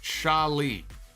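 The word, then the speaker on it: Xia Li: Joshua, Zia Lee is pronounced Sha Lee. Joshua is a Mandarin speaker. I say it the way they say it on TV. And the way they say it on TV is Zia Lee.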